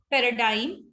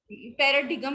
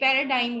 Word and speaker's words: paradigm: Then G is silent in the spelling sequence GM or GN. For example, film, ठीक है, paradigm, paradigm नहीं होता, ये paradigm होता है.